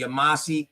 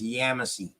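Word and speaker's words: Yamasee: Mississippi area K I'm everybody say the yamasi but it's Yami yeah okay yam you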